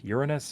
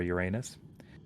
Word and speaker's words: Uranus: And above that is, depends on how you want to pronounce it, Uranus or Uranus.